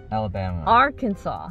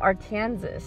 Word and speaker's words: Arkansas: like uh yeah i meant that for example arkansas how the f why does it look like arkansas you don't what i mean kansas is notes